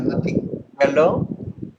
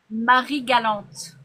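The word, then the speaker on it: Marie-Galante: de super voyage à Marie Galant. Je sais pas si je le prononce. Non, je le prononce Marie Galante. Marie Galante. OK, c'est comme ça qu'on le dit en français.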